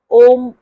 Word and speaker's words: ओम: म्हणण्याच्या वेगवेगळ्या पद्धती आहेत काही ठिकाणी अ उम न म्हणता ओम असाही उच्चार करतात पण आपण आज अ उ म या पद्धतीनेच ओम च उच्चारण शिकणार आहोत कारण मानसिक ताणत तणाव